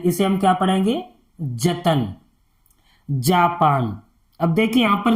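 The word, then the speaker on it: Japan: अगर आप इसे पढ़ेंगे ज पन जपन कोई शब्द नहीं है अगर यह लिखा है अगर आप पढ़ना सीख जाएंगे तो तुरंत एकदम उसका जैसे ही नजरों के सामने आएगा तो आप उसका एकदम उच्चारण कर देंगे जापान लिखा है जपन नहीं पढ़ेंगे उसे आप क्या पढ़ेंगे जापान तो ऐसे आपको प्रैक्टिस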